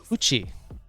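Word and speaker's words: 口: weird things be back all right let's see coochie and yes a lot of people are like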